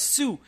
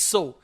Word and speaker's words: sew: mispronounce it it as Sue it's not Sue it's so s e w and s o w both are pronounced so so means to stitch